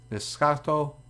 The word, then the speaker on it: Escotto: got uh make out escato he's from Dominican so that is a soft C escotto uh he might develop